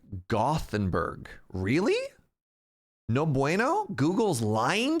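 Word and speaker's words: Gothenburg: English speaker me wants to read that as gothenberg no oh man I tried I tried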